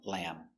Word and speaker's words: lamb: And the B is silent. No lamb. Finish with the M sound, lamb.